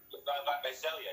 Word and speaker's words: Visalia: It's Visalia? Where is that exactly? Am I saying it right? Yeah, so Visalia, yeah.